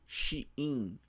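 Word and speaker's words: 死因: Shiin, uma palavra em kanji que significa causa da morte e que se lê, se pronuncia shiin, shiin.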